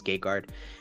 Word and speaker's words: Gegard: It's Gegard.